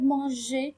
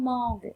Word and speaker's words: mange: G suivi par quoi? Par E. Donc, on va prononcer le verbe manger comme mange et pas comme mangue.